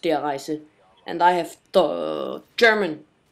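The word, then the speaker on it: Der Riese: War will be in Black Ops there are dries or diaries as a lot of people call it but it is pronounced their eyes and I have the German in school I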